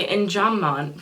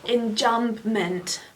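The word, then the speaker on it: enjambment: So the injamment from which is a really weird word if you look at how it's spelled it's injambment but no it's in because English steals things from French all the time go English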